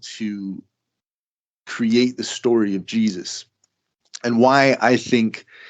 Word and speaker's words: Jesus: The name Jesus is an anglicized version of the original name, which is, I'll pronounce it Jesus. That's pretty much how you pronounce it. Jesus, or there's different, there's however, it kind of sounds more like in Spanish, Jesus, right? Because it wasn't Jesus, it's more like IESOUS.